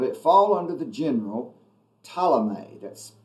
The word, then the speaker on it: Ptolemy: fall under the general talomay that's p-t-o-l-e-m-y polymer ptolemy the first and ptolemy comes in there i think the p is silent but he comes in